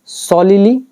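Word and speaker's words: solely: word आ रहा है सॉलिली सॉलिली अच्छा वर्ड है इसका प्रोनन्सिएशन क्या होता होता है सोल और फिर ली सोलली ठीक है सोलली तो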